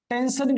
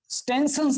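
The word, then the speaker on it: Stensen: और टेंसन्स ग्लैंड, इसको टेंशन gland बोलेंगे, टेंशन। ओके, टेंशन, स्टेंसन्स नहीं, टेंशन, सिर्फ यस साइलेंट रखेंगे, टेंशन ग्लैंड।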